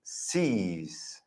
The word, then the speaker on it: sees: Y aquí sí que es una I. Es sees. Sí. En la segunda, en el plural, es I con el sonido z, right?